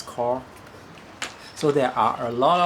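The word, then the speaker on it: Qor: recently this one is called uh cor uh Q o r it's pronounced as cor so there are a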